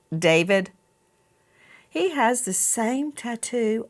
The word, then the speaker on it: D4VD: What a coinkydink that David, some people look at his name and it looks like D4VD, and he pronounces it David.